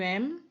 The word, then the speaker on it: aimes: dan il, elle jamak, pengucapannya adalah sama. M. Akhirannya ini tidak boleh diucapkan sama sekali, ya. Jadi j'aime, tu aimes, il aime, ini juga ils aiment.